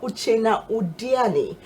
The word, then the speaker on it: Uchenna Udeani: and I have a and I have Professor uchena odiani who is the director of distance learning Institute